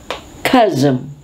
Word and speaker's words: chasm: pleasing approachable warm personality of a person charisma chasm we can say there is now a growing